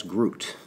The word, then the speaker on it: Grüt: with the band the artists collectively known as Groot GRU tea with a known lot pronounced it right these cats are from Atlanta